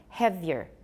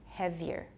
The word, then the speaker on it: heavier: So heavier, heavier. We can make it sound like two syllables instead of three.